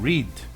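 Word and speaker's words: read: burro porque o verbo rede nós alteramos a pronúncia no modo falado então ri no passado se pronuncia red neste caso e fique red more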